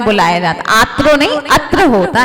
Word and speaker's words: अत्र: तो संस्कृत में भी अपन शुद्ध उच्चारण करें कि हे स्वामी आत्रो, आत्रो कोई शब्द नहीं होता, आत्रो बोलते ना, हे स्वामी आत्रो आत्रो, आत्रो कोई शब्द ही नहीं है, अत्र मतलब यहाँ, इसलिए अत्र स्वामी बोलना है ना।